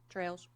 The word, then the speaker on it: Trails: Trails.